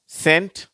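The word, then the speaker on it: scent: சி இன் டி என்ற வார்த்தை இருக்கு இல்லையா அதிலிருந்து சென்ட் சயின்ஸ் சீனரி சிசர்ஸ் அடுத்த கட்டம் பாருங்க சா அதை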